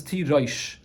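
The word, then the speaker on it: תירוש: Well, Karinan though, but the way it's pronounced is Tirosh.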